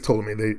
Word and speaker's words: Ptolemy: I think it's Ptolemy. The P is silent, like Django. The D is silent.